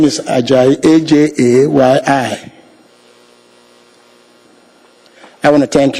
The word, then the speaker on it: Ajayi: It's spelled first name. This is not. And the last name is Ajayi, A-J-A-Y-I.